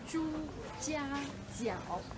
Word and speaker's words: Zhujiajiao: Zhujiajiao.